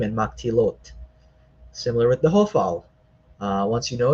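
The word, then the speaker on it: הָפְעַל: You know it's an o sound because of the name of the stem, hofal. It's not hafal.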